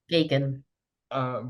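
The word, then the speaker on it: Geoghegan: Sorry, I'd forgotten how you pronounce his surname. Could you say it for me again? Gagan.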